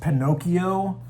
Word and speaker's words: Pinocchio: I'm learning about Italian, I'm understanding why this is pronounced Pinocchio instead of just taking it for granted. Like, I'm starting to like realize a lot about the ch, how it makes the K sound, and um you know,